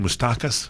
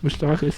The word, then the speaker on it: Moustakas: Moustakas. Moustakas.